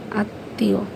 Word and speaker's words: আত্মীয়: যেমন আত্মীয়, এই যে মাঝখানে জফলাটা হওয়াতে মানে আত্মীয়, তর উচ্চারণটা কিন্তু আমাদের ডাবল হয়েছে।